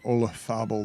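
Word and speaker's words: Olazábal: stunning today happen than you pronouncing olathabul the way you would pronounce barcelona if you were doing it correctly in spain i there's i don't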